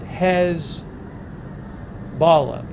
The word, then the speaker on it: Hezbollah: could be a targeted uh Wikipedia pronounces it hez Bala that's the Wikipedia pronouncement of Hezbollah I've heard it Hezbollah I've heard it Hezbollah the Wikipedia pronouncing pronunciation is hez Bala um he also says